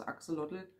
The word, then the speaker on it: Axolotl: immer aktion oder aber die richtige aussprache ist axolotl axel doppel axel so und das sind